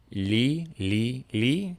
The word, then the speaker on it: 려: one day for me when someone told me to think of it as 리 plus 어, and say that quickly. So to isolate that syllable first, we'll say it li, just like we started with our tongue in that spot, just like before. Li, and then you move quickly to 어 after that.